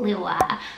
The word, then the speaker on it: Lua: my faves from the list is the name lua lua is l-u-a and lua happens to mean